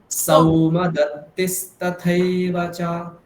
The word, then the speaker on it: সৌমদত্তিস্তথৈব চ: সেরকম বললে হবে না, সৌকারটা কিভাবে বলতে হবে, এইভাবে সা ঔ, এইটা কল্পনা করুন, তাহলে ঠিক উচ্চারণ হবে, সাউ সাউ। তাহলে ঠিক এখানে আছে। কি হবে? সৌমদত্তিস্তথৈব চ।